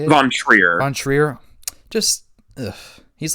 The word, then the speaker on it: von Trier: Von Trier.